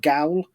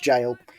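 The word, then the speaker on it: gaol: assumed it was pronounced gal and became jail in uh years as it went past but no it's written gal but pronounced jail it will now be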